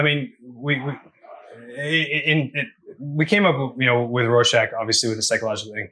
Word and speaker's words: Rorschach: How have I done, by the way, pronouncing it? Have I done okay? You've been great, Rorschach.